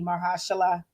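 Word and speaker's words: Mahershala: um and so i'm incredibly excited to see mahashala you said it right okay maheshala ali come in and then of course they've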